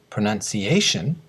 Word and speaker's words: pronunciation: Pronunciation has 5 syllables, do-do-do-do-do, and the stress syllable is the A of pronunciation.